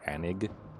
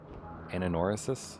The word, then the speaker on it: Anoris: in there it's just hard to say anoris cuz I see I start wanting to say anig but I imagine this place isn't anoris anoris anoris I assume is how it's supposed to be pronounced words man again a